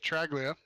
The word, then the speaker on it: Traglia: Usually it's pretty close on these short tracks, but Thad Miller and Nick, I still, that name, man, Traglia, he just told me how to say it. Nick Traglia, and he got 3rd place there.